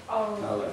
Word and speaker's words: Aleph: Think of the sound in the back of your throat you're making. This guttural sound is basically, it's making a sound in that Aleph in the back of the throat. It's not in the front of the mouth, it's in the back.